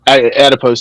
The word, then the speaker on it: adipose: know, the more adipose, or is it adipose or endopose tissue you have? It's adipose tissue.